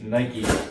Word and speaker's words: Nike: in this part of Canada we called it Nike, but I guess judging from the comments from that last video, it's pronounced Nike mostly everywhere in the world, so let's take it from there.